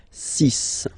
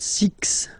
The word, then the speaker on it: six: be careful here because even if it's ending with this x well you'll have to pronounce it like s okay so you get the sis pronunciation Sis Sis okay so it's not six it's sis all right then here